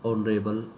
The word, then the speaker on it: honorable: he is not this honorable man honorable honorable here h is silent and the sound starts with o that's why we will